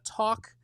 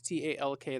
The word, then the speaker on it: Tauck: We've got a landbased uh talk uh which is not talk t a l k that is talk I can't I don't know if I pronounce it correctly.